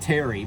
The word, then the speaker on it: Tarry: And I'm like, well, that word, that is pronounced Terry, but it's not somebody's name.